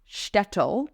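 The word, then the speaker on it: Shtetl: Festival this past year which is called stle uh but it's spelled sh TTL it actually just screened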